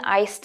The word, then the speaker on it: iced: I'd like one iced Americano. 한국어와 달리 영어에서는 ice가 아니라 iced 라는 점 유의해서 발음해주세요.